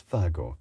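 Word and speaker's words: WAGO: The guys who originally invented spring clamp technology had to pronunciation Vago, so it is Vago. That does make sense, as in Wagner.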